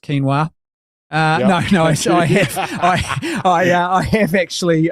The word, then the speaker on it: quinoa: Well, I cannot tell a lie, Bob. It's pronounced quinoa.